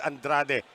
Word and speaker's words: Andrade: Sabi ko kanina Andare, it's Andrade. Thank you to the fans pointing that out.